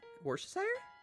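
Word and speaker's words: Worcestershire: I can't do it warer sauce I pronounce it wores because it is just easier I pronounce it the Southern way because of course I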